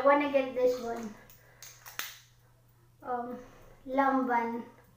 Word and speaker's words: Lanvin: get this one um lomban the spelling is labian in english alphabet you say london but when you say it you pronounce french this is really good